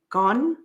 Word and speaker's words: Gaughan: It's spelled Gaughan. Gone.